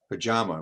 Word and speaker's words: Pachama: This is a huge area, and I think in both your companies with this Bluestone, Pachama. Am I correct? Am I pronouncing that correct, Cindy? Pachama. Okay, And it's Pachama.